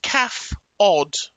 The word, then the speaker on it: CAFOD: Pronounced calf odd.